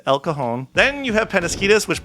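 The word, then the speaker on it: El Cajon: You got La Hoya, not Ljala, not El Kajan, it's Elcohone.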